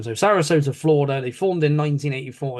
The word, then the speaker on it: Sarasota: They are from the place of San Sorota. I'm going to try and say this again, so it's Sarasota. Sorry, I said it wrong the first time. So Sarasota, Florida.